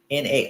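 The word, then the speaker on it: não: already said now something Nao means no n a o now pronounced now it's like now don't don't pick up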